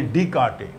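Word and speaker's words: Descartes: भी प्लेस को identification spelling word है ना डी ई एस सी ए आर टी ई S pronounce करते डी काटे रेने डी काटे ने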